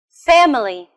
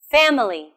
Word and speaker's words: family: Family. Family. This word has a stress on the first syllable, too.